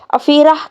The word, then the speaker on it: Afeerah: दोस्तों अगला नाम है अफीरा। यहाँ पे है की आवाज है। अफीरा के स्पेलिंग AFEERAH।